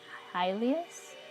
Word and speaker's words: Hylia: So this is like a sketch of Hylia's, is how you say it in English.